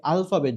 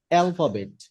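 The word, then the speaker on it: alphabet: আমরা এটাকে আলফাবেট বলি। এটার মূলত উচ্চারণটা হবে অ্যালফাবেট।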